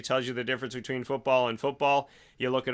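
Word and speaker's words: fútbol: F-U-T-B-O-L with the accent on the U, football, which is soccer to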